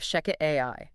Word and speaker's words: ShechetAI: Welcome to From the Desk of Sheket AI. That's spelled S H E C H E T A I.